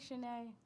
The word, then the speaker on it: Shanae: Hi, my name is Shanae. I know it has a T in it. T is silent.